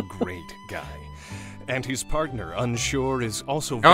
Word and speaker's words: Unsure: And his partner, Unsure, is also very Oh yeah, it is just straight up pronounced Unsure.